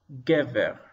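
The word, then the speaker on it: גבר: segel, and resh, ver, gever. And notice that the accent is on the first syllable, and I've marked it with an accent mark.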